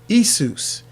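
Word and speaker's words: Ἰησοῦς: When you look in the Old Testament Greek, the Septuagint, you will discover that Yeshua or Joshua is transliterated into Isus.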